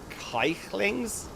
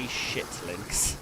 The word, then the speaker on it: Kikelings: It's spelled kikelings, but our good friends, anyone who speaks Norwegian or from that neck of the woods, shick is pronounced shicklings, and you've got to be very, very careful not to say shitlings, which I say that occasionally by accident.